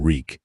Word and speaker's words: Reek: I'm Reek. It rhymes with squeak.